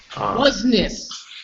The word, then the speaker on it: business: Business. Business. Business, someone might say. But bees. It sounds like bees. Bees. Insects. Business. Like a bee.